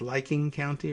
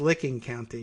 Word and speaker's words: Licking County: in licking county unless they have some weird pronunciation like it's liking county or something like that but it's pronounced licking county which matt gates don't get excited don't be